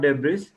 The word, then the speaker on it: debris: So we have to let them understand the difference in the pronunciation. And debris is again many people, now I have taken a few, 4 or 5 here, which are wrongly pronounced by many people.